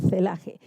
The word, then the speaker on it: celaje: Me cuesta pronunciar la C, pero es celaje.